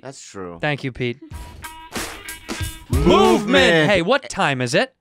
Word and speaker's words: MVMT: thank you Pete that's true thank you Pete movement hey what time is it mvmt time bab time baby it's pronounced look you guys you got no I